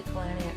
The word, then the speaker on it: Palahniuk: I'm going to say Palahniuk because it rhymes with book, kind of.